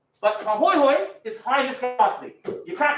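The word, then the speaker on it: pāhoehoe: This one's called Pahoihoi. Pahoihoi.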